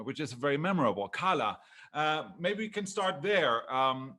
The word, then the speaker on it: Kala: So the meaning of my name, or the intended meaning, is sunshine, even though officially it's pronounced Kala.